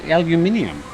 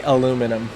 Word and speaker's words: aluminium: So, aluminium. Yeah, that's aluminium. how I'd say it. It's spelt the same way, but I'm sorry, PK, but no one at the Thaiger office is going to say aluminum.